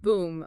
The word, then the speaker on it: Voem: It's pronounced Voem. Boom.